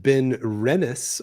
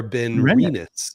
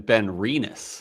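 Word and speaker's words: Benrinnes: Okay, it is pronounced Ben Renis or Ben Reenus. Ren renis. So that emphasis is on the Renis. Um, did you have kidney cancer? Because it would have been Ben Reinus.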